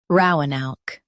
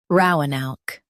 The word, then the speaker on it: Roanoke: Ro uh noke Roanoke Stress ro and keep a noke smooth. Ro uh noke Roanoke Practice repeatedly and you'll soon be able to say this word perfectly.